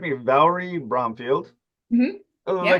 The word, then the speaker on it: Valri Bromfield: So you most recently appeared in Saturday Night as I'm say the name wrong, so correct me, Valri Bromfield.